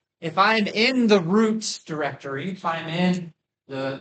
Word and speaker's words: root: The first thing that I'm going to do today is cd into slash name rhymes with boot. Yeah, that's going to be our root.